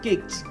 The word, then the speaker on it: CICS: Let's say for example CICs pronounced kicks gets butchered as KS or HTTP losses the T or Cobalt becomes CBL which is not ideal.